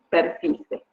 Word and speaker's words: persicae: Se llama Missus, se escribe Persicae, pero la pronunciación correcta es Missus persice.